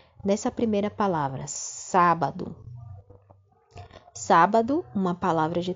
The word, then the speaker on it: sábado: essas sílabas destacadas não é nessa primeira palavra sábado no sábado uma palavra de três sílabas e a antepenúltima sílaba não é é a sílaba tônica é a sílaba forte sábado quando eu pronuncia sábado os a é sai